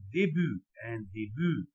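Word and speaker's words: début: طب ان ديبو وان كار، حد يقول لي الله انت ليه ما نطقتش حرف التي هنا وحرف التي هنا؟ هقول له باختصار شديد انه انا قلت قبل كده الحرف الساكن في نهايه الكلمه لا ينطق بصفه عامه.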